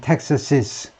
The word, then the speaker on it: Texas's: 텍사스고, 그 다음에 소유격은, 그러니까 주격은 텍사스고, 소유격은 텍사시스, 텍사시스. 이것도 그렇게 발음해라는 겁니다.